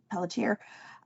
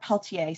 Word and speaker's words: Pelletier: And, the woman that I work with as my editor at Entangled, Liz Pelletier, or Peltier, sorry, I always do that. I say it like it's spelled.